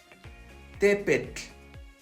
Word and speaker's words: tepetl: Por lo regular, escucho la pronunciación de la siguiente manera. Tlacatl, Cihuatl, Popocatépetl. Ese sonido es incorrecto. Debe sonar más o menos así. Tlacatl, Cihuatl, Tepetl, Popocatépetl. Vean, la pronunciación no es tan exagerada.